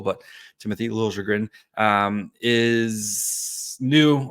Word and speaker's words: Liljegren: Timothy Liljegren, I guess we're now emphasizing that middle syllable, but Timothy Liljegren is new, right?